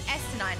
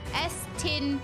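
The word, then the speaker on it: Estinien: Like when I read it, his name is Estinine. Like when you hear Estinine 100 times, the one time or the 2 times that you hear the correct pronunciation, it doesn't sink into your brain as much as the wrong pronunciation does.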